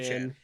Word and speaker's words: Achane: you mispronounced his name. It's Achan. Achane.